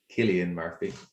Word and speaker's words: Cillian Murphy: known that colin farrell is from dublin and killian murphy is also from ireland as well and cillian murphy as people i often pronounce it but it's actually uh killian murphy he's famous for our peaky blinders most recently